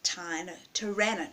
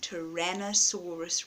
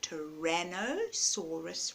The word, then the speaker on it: Tyrannosaurus: very big meat-eaters at Tyler Torana not owner Tyrannosaurus Rex there we go I'm pronouncing it right a Tyrannosaurus Rex they had big